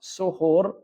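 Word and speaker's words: سُحور: sesungguhnya pada hidangan sahur Jadi kalau seandainya dibacanya sahur pakainya fathah sa itu artinya adalah makanannya tapi kalau seandainya dibacanya dengan domah berarti Apa suhur itu adalah ibadahnya atau perbuatannya J dalam bahasa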